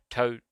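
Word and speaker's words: トロル: This aspect of the story was left out of the 1993 Fox English version, probably because the difference between Tororu, Toro RU, the Japanese pronunciation of troll, and Totoro would have been lost on English-speaking audiences.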